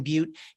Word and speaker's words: Beute: prefer to buy books my name is butte last name is spelled b-e-u-t-e and i'm on most of the